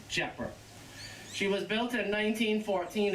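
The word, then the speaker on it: Tjepper: called the Jaguar t-j-e-p-p-e-r that's a Dutch name but you don't pronounce the T you just say jeopard she was built in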